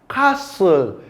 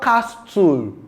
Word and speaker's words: castle: Castle. It is not castle. It is castle.